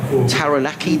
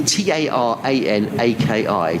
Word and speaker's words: Taranaki: plymouth and i'm gonna make a mess of pronouncing this as well taranaki t-a-r-a-n-a-k-i taranaki proud home of will young looking forward